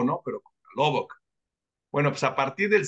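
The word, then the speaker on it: Lubbock: a la ciudad de se pronuncia lobec no a ver corrían eh o se escribe lubo sea como si fera una o bueno se dice loboc loboc ahí está loboc como el lobo no pero loboc bueno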